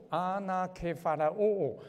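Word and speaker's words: ἀνακεφαλαιόω: 同归于这个字呢，希腊文念作阿那克法拉欧，阿那的意思叫之上之上，克法拉欧叫总计。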